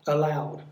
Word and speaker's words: allowed: And for allowed, it's on the second syllable. Loud, allowed.